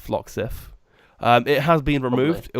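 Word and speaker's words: Floxif: sure how it's pronounced it's FL o xif I think it's pronounced phlox if it has been removed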